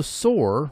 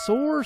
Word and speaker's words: SOAR: it all right um and there is also sore which is security orchestration Automation and response all